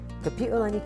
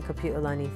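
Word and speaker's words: Kapiʻolani: Today, Kapi'olani Community College is perpetuating Queen Kapi'olani's legacy in a number of ways.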